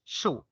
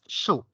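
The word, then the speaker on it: 竖: vertical stroke in mandarin the character is shu this stroke is pronounced as shu shoe is like the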